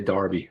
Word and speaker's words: Derby: over there in the uk nice i would pronounce it as derby you would say darby the orbee darby shire um so i want